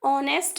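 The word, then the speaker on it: honest: क्योंकि यहाँ पर जो एच है वो साइलेंट है। ठीक है, आप हिंदी में देख पा रहे होंगे ऑनेस्ट लिखा हुआ है, इसलिए यहाँ पर एच साइलेंट है और ऑनेस्ट की ओ की साउंड निकल रही है, इसलिए हमने यहाँ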